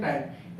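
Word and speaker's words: time: इसको पढ़ते हैं हम टाइम क्या पढ़ते हैं टाइम इसका जो प्रोनसिएशन होगा वो होगा टाइम टी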